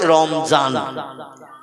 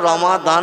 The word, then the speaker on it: রমজান: মতা অবলম্বী বা অন্য মতাদর্শের মানুষ ওরা দোয়াদ উচ্চারণটা ঠিকমত করে না ওরা দোয়াকে যেমন রমজান আরবি ভাষায় লেখা ওরা বলে রমজান বলে না আমরাও শুনে শুনে মুখস্ত করেছি আমরা